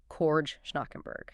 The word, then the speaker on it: Schnackenberg: And for those keeping track at home, that's pronounced Cord Schnackenberg.